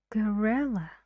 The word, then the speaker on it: gorilla: smaller nothing serious next gorilla gorilla only one sound gorilla these two Sounds here need to be very short very fast and your tone is relaxed say gorilla and the stress is on re how many syllables three